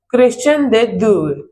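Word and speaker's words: Christian de Duve: तो इसे कई जगह ऐसे भी प्रोनाउंस करते हैं। क्रिश्चियन डे ड्यूए।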